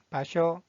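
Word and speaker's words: 場所: 장소라는 뜻을 가지고 있는 이 한자의 발음은 바쇼, 바쇼.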